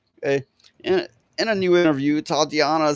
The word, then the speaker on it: Tatiana: Okay, this article is all about this Titiana, or how do you say it? Teddy. Let me see. This bitch, right? This Tatiana. This puto. Maslany. Oh fuck! Should I call her Titiana? Just say Tatiana.